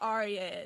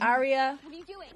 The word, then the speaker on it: Arya: It's like, Arya. But it's not Arya, it's Arya. It's just Arya. Arya. Like 2 syllables.